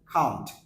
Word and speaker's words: can't: বাট এটার sound কিন্তু ক্যান ননট হচ্ছে না সাউন্ড হচ্ছে কাউন্ট কাউন্ট আমরা অধিকাংশ বলি ক্যান ননট ক্যান ননট না সাউন্ড হবে কান্ট কান্ট কান্ট যেমন আই